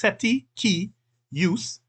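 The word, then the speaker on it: cestui que use: the Equitable owner or set set key use this is pronounced setti key use or beneficiary use would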